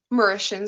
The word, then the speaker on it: Mauritian: I'm sorry, how did you pronounce it? It's Mauritian? Mauritian.